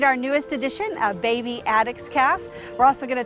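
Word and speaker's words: addax: It's usually pronounced Addix. Sometimes people say Addix. One of our most recent vets told me that she had never heard Addix until she actually came to Louisville.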